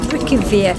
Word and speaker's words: Reykjavik: internet and that's how it told us to pronounce it. Reykjavik.